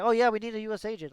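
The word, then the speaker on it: U.S.Agent: No, that's how you're supposed to say it. That's how it's spelled. It's USA gent. USA gent. There's no way to pronounce it that makes it sound like a name, but it technically is one. But it does just mean U.S. agent.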